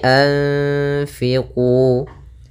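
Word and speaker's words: أنفقوا: Fa Ini bacaan Ikhfa maka suaranya itu suara nunnya kita samarkan kepada makhraj huruf Fa langsung an Fa anfiah begitu Anfu kalau di sini anfiqu Kemudian pada lafal qu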